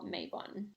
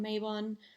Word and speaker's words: Mabon: I could say on Mayon um or Mayon is technically how I think it's pronounced um it actually stems